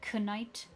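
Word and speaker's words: knight: We used to pronounce night with a K during the medieval times, but for some reason we dropped the K and now it's silent. Like canite.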